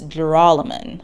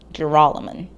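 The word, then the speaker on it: Joralemon: for the record it's jerolyman with an emphasis on the second syllable jeroloman if you got this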